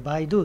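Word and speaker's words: 百度: これ 100 度と書いてバイドゥと読むんですけど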